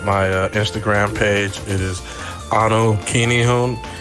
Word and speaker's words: Anu Kinihun: It is Anu Kinihun. It's spelled ANUKINIHUN.